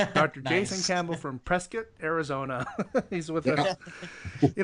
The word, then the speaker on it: Prescott: Well, if you're an outsider, you pronounce it Prescott. And if you're an insider, you you pronounce it Prescuit.